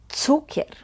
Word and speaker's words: cukier: Cukier. Remember, C is pronounced as C. Cukier.